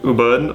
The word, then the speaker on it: Ubud: Bali, I went to Ubud, or I think that's pronounced like U-B-U-D. Ubud.